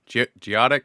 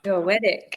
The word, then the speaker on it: Goetic: uh how do I I always forget how to say this. Giotic. Giodic. What is it? I don't know. Goetic. Goetic there. See, I I was wrong on both accounts.